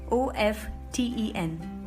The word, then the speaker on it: often: But according to Wikipedia, the pronunciation without T is still preferred by 73 of British speakers and 78 of American speakers.